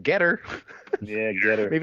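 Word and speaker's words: Gettr: Recently, the Trump team has launched their own new social media platform, which I believe is pronounced Getter.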